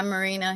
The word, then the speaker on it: Amarina: Am I pronouncing that right? Yeah, Amarina.